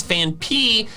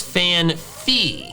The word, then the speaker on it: Phanpy: I always call out Pokemon 7 whenever he pronounces Fan P as Fan Fee.